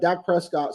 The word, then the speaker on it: Dak Prescott: is that how you say his name yep Dak Prescott so Dak Prescott is the quarterback for the